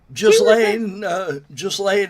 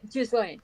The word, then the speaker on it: Ghislaine: She had this, how do you pronounce her? Maxwell, the pedo girl that was with Epstein. Oh yeah, Ghislaine Maxwell. Yeah, Ghislaine, thank you.